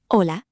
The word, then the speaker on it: hola: Say hola. Hola. Good. The H is silent.